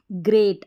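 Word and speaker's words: great: का उच्चारण ग्र रहेगा ग्रेट अब यहां पर ई ए है ना ग्रेट में हो गया ब्रेक में हो गया ई ए को ए पढ़ा जा रहा है ध्यान रखें फिर ओ यू एंड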